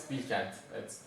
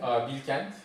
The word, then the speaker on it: Bilkent: It's Bilkent. It's in Ankara. And what makes that university prestigious? Spell that name again. Bilkent. Bilkent.